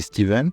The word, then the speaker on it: Stephen: J'ai adoré Steven, ça s'écrit Stephen, mais ça se dit Steven, qui elle est très